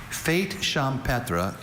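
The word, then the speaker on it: fête champêtre: Fate champra is a singular noun. It can also be pronounced fate champra.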